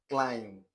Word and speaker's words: climb: Next MB as in bomb, comb, dam, climb, plum. Okay, so remember when we treated the sound BB B. So these words are under silent B. Okay, so the B is silent in these words.